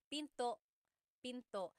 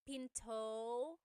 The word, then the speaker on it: pinto: And remember, don't forget the glottle stop. Don't forget to stop the sound at the end. That's called a glottle stop. Pinto. It's not Pinto.